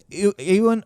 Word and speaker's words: Ewan: D23 confirmed that Ewan McGregor.